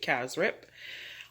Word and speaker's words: cassareep: is of course this kaz rip even though it's spelled cassareep we pronounce it cass rip and what i did